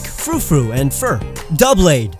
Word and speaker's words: Doublade: Doublade, double blade. Why are people calling it Doublade?